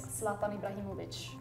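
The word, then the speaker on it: Zlatan Ibrahimović: Swedish Swedish yeah yeah how I Sweden would say it is slatan Ibrahimovic in Korean we would say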